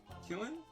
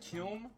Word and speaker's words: kiln: The bottom here, it's Killin'. I hope I'm pronouncing that right. See, it says made in England. I just looked it up. They're pronounced Kiln, not Killin' or whatever I was saying.